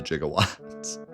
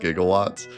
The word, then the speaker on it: gigawatts: Not the going back in time part, but the the jigawatts. They just mispronounced gigawatts.